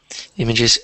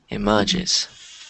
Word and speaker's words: images: Images. Okay. Yeah, I think you just stressed the wrong syllable. instead of emerges. Immeris. Yeah, just like that. Images.